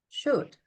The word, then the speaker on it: should: Should. I think it's the L. And you are right. Should.